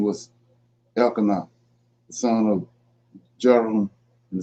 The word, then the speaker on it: Elkanah: So yeah, so I'm gonna deal with this Elikim Elkanah. I can't really say his name. It's Elkanah, and his wives.